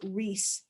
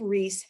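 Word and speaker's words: Riis: so it's r i i s but it's pronounced rhys and his book is called how the other half lives i would know the title of this book as well jacob reese how the other half lives so what does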